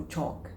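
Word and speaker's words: chalk: दे सकते बच्चों को चौक, क्योंकि उसमें ए जो है ब्रॉड साउंड निकाल रहा है और उसमें एल साइलेंट है, के है.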